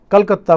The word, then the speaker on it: कोलकाता: कलकत्ता को अब क्या कर दिया? कोलकाता, क्योंकि ये एक प्रकार का बंगाली उच्चारण है ये दोस्तों, ठीक है ना। ये बंगाली उच्चारण है कोलकाता।